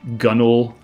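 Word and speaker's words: gunwale: something like that or or gunnel when the spelling looks like gun whale.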